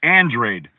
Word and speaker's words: Andrade: So it's, you know, you can't just look at a name and think you know it, because guys, you know, Demetrius Andrade, but it's Andrade. It looks like Andrade. Right. He like Demetrius Andrade.